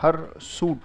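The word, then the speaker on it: hirsute: ये उच्चारण इसका, हर सूट पढ़ा जाएगा, राइट?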